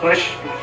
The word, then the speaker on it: कृष्ण: कर पाता कृष्ण नाम, बहुत टेढ़ा नाम है कृष्ण का। यदि अच्छे से उच्चारण करें कृष्ण भगवान के नाम को, तो ये जो जीभ होती ना पूरी पलटी खा जाती कृष्ण।